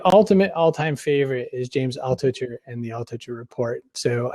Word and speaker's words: Altucher: The last one, Altucher, is that how you pronounce his last name? James Altucher, yep.